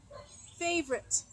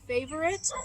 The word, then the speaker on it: favorite: Favorite. You can say it 2 ways, and both ways are correct. You can say favorite or favorite. You can say it with 3 syllables or 2.